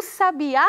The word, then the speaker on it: sabiá: cuidado com a pronúncia existem palavras que são muito parecidas mas mudam de sentido se você mudar o lugar da sílaba tônica quer ver alguns exemplos